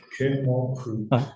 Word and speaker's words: Mutlu: Did I pronounce it correctly? It's how it's Mutlu.